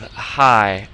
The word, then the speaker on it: 孩: And so this AI sound in pinyin sounds like I, like the eyes on your face. So you put an H before it. The H in pinyin sounds pretty much like our H. So you come up with high, almost like high and low.